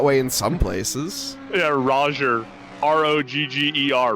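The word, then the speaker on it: Rogger: in some places yeah Roger r-o-g-g-e-r Roger Roger Roger yeah Nate Roger oh man G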